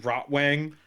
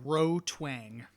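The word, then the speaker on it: Rotwang: Is it Rottw Wang? No, Roang.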